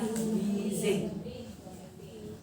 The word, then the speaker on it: wheezing: Kemudian kalau satunya wheezing, bukan wheezing, tapi bacanya wheezing. Wheezing, tulisannya kan W-H-E-E-Z-I-N, tulisannya wheezing, bacanya wheezing. Wheezing.